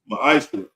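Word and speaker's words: מעשר: In the Hebrew, it's pronounced ma'ashra.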